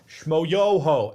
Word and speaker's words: Schmoyoho: first off gregory brothers schmoyoho accent on the yo they made this song